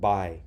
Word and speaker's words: buy: by your right now there's a use there so it should say something like booy booy booy booy booy right now it's one syllable so it would be I me I by fly try by DUI but we don't say blue eye it's just by okay now what which